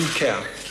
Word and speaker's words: Kjær: My name is Simon Kjær in Danish. The way you Kjær, the way you pronounce that.